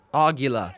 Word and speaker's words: Aguila: Aguila. That's how you pronounce his name.